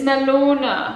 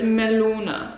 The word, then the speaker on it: Melone: So it's melona because it's got an E on the end. So you say melona. Oder für mein Frühstück Mango oder Melone.